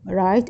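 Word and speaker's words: write: الكريم يقوللك رايت اكتب رايت اكتب هاي الدبليو ما تلفظ ان ايميل يعني رساله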